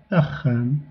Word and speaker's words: axam: Et le x c'est un “kh”, comme dans “axam”, c'est-à-dire “maison”.